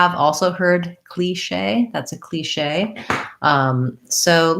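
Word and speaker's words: cliché: regional pronunciations as well so they're saying cliche cliche um with the long tense e that's a cliche um so i'll look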